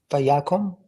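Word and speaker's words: ויקם: How did you pronounce the vowel in this syllable? Vayakum? Yep, good. Vayakum. And it comes from kum. Kum becomes kom.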